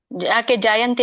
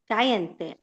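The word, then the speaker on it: ಜಾಯತೇ: ಏನಿದೆ ದುಷ್ವಾಸುಟತ್ತಲ್ಲ ದುಷ್ವಾಸುದುವೇಯಜಯತೆ ಜಾಯಂತೆ ಯಾಕೆ ನೋಡಿ ಅಲ್ಲಿ ಇನ್ನೊಮ್ಮೆ ನೋಡಿ ಸೊನ್ನೆ ಇದೆಯಾ ಅಲ್ಲಿ ಜಾಯಂತೆ ಚಾಯಂತೆ ಮಾತಾಜಿ ಇಲ್ಲ ಅಂ ಇದೆಯಾ ಅಲ್ಲಿ ಸೊನ್ನೆ ಇದೆಯಾ ಅನುಸ್ವರ ಇದೆಯ ಅಲ್ಲಿ ಜಾಯತೆ ದುಷ್ಟಸುವಲೇಯ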